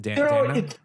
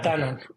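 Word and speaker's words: Danone: how you pronounce it Dan Danon yeah Danon perfect yeah it's Dan in Mexico but but Danon in the US super interesting one one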